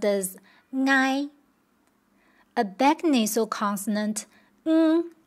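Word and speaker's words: 𠊎: It's the first person pronoun in Hakka dialect, pronounced as ngai. A back nasal consonant ng followed by a compound vowel I. Ngai. The consonant ng does not exist in Mandarin, but it's in many dialects.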